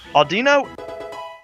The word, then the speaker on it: Audino: Randomly, when you go across the field, I have a hard time pronouncing this Pokemon's name, so I let you pronounce it. It's Aldino. But Audino, yeah, and I said it right that time.